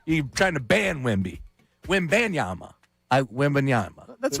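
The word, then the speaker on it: Wembanyama: Wembenyama. Wembenyama. Is how yeah. It's Wembenyama. Yeah, you go ban. Wembayama. You're trying to ban Wemby. Wembenyama.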